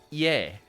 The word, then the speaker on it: e: over here in Romanian the verb it is is written as romance e but pronounced yay for IE depending on how I